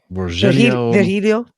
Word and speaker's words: Virgilio: Chef, how do you pronounce his name? Virgilio.